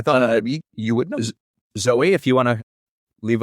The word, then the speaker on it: Zooey: Is it Zoe or Zooey? Because I've heard it as both. Pretty sure she pronounces it Zoe Deschanel.